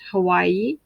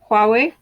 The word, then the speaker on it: Huawei: your samsung your huawei it's pronounced huawei not hawaii let's learn that now